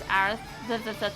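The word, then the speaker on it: Aerith: that some people pronounce Aris some people pronounce arith but you know I say aerys I think you just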